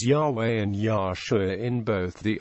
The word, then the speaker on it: Yahweh: the Christian Church testify that the name was pronounced Yahweh prominent religious leaders have agreed that Yahweh cannot